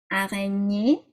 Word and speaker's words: araignée: The GN sounds like that. Espagne, araignée, nye.